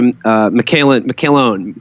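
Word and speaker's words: McElhone: Natasha McCallone.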